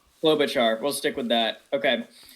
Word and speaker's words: Klobuchar: Klobuchar. Klobuchar.